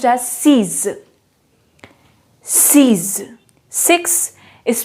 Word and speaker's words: six: have a look here sanch ecutabia six is pronounced as seas seize six is pronounced as seas seven is